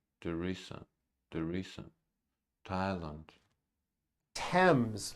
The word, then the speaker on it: Thames: terms temps not temps Thames Esther Esther Esther Esther time time it's which is a spice and names are spelled with a th they are pronounced as if they were spelled with a normal teeth like that and